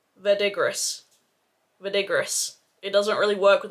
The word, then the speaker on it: verdigris: and he was like Skye it's French it's verdigree so I'm so sorry